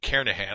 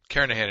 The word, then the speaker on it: Kernighan: will be using the Kernighan and Ritchie or Kerr Nahan I should say that G is silent Karen ahead and Ritchie C programming